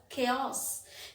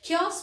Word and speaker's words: chaos: is my favorite subject the next word is chaos ch here is pronounced as ka chaos chaos means helge after the